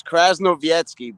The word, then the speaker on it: Krasnovietsky: How do you pronounce it? It's Krasnovietsky, but I go by Kras because I don't expect everyone to learn to know it.